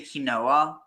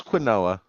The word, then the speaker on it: quinoa: did that until I learned how it was pronounced are you sure you didn't say kinoa no it was quinoa okay but he's saying kenona he's not even